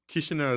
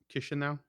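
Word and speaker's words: Chișinău: Chisinau is like right in the middle of Moldova, like in the territory or whatever.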